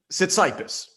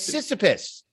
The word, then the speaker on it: Sisyphus: case keith schredler for sitcipus because he is that how you pronounce that maybe i don't know i think no it's it's sisyphus it's not cyprus oh boy then i